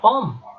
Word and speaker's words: homme: Enseguida tenemos la palabra homme. Y en este caso tenemos una H y es una H muda.